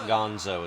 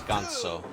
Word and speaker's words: Ganso: And I'm pronouncing it that way because he's supposed to be a goose luchador. So it's not Gonzo, it's Ganso.